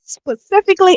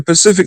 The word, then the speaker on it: specifically: About me specifically and specifically. What was I wrong Why about? you saying Pacific like the Pacific Ocean? That's not how you say it, baby.